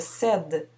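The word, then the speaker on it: cèdent: Il cède. Je ne prononce pas le ENT.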